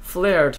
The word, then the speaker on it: flared: And yes, before anybody continues to comment that, oh, look, it's pronounced flared trousers, flared, but of course I know that, guys, come on now. I like saying floret, because it just sounds much cooler.